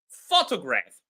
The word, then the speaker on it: photograph: Well, photograph. I've taken a lot of photographs today. I've taken a lot of photographs today. The first syllable is stressed.